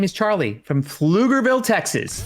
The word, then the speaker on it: Pflugerville: My name is Charlie from Pflugerville, Texas. Pflugerville.